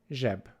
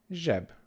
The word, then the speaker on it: zseb: This is J, J, the sound J, J. And an example word for today is zseb, zseb, which means pocket. So this is a similar sound to garage in English, the J at the end of garage. Zseb, zseb, pocket.